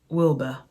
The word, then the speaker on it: Wilbur: she also said to Wilbert um Wilbur I should say his name is actually Wilbur not Wilbert she also managed she also